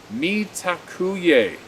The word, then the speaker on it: mitakuye: a letter or correspondence the phrase is metacue away pronounced mitakuye it means all my